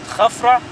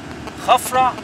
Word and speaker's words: Khafra: This is the right Egyptian names. Some people say the Greek name, which is Cheops, Kefren, Menkerinos. But for the ancient and right Egyptian pronunciation, Khufu, Khafra, Mankaura.